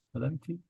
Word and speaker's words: Escalante: Uh, how do you say your last name? Scalante. Los Escalante. Scalanta. Yeah, that's fine.